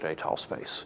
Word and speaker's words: étale: I'm going to write with two accents, and I'm going to say étal space, because he always pronounces it étal space.